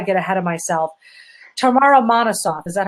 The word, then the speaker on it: Monosoff: But before I get ahead of myself, Tamara Monosoff, is that how you pronounce it?